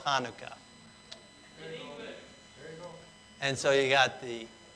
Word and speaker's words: Chanukah: that sound in english so it's kind of like an h so some will put the h in there but it does have more of a k hanukkah so some will spell it with a ch but then you got people saying chanukah and uh and so